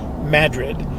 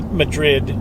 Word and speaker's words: Madrid: the Spanish to Madrid they pronounce it with emphasis on the first syllable so it comes out Madrid and if you say Madrid when you're in Madrid